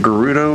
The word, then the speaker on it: Gerudo: Look at that Gerudo lady. So I ask this all the time. What do you guys think? Is it Gerudo or Gerudo? I'm a hard G kind of fella in the aspect of